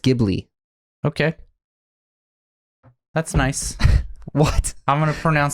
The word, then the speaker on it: Ghibli: when you put a when you put an H after the G it becomes a g sound okay so that's why it's pronounced gibli okay that's nice what